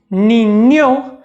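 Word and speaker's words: niña: जैसे कि कारिन्यो जिसका मतलब होता है प्यारा, बान्यो जिसका मतलब होता है गुसलखाना या फिर अंग्रेजी में बाथरूम, नीन्यो या नीन्या जिसका मतलब होता है बच्चा या बच्ची।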